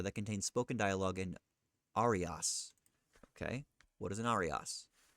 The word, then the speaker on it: aria: I'll use the Italian pronunciation because it looks Italian.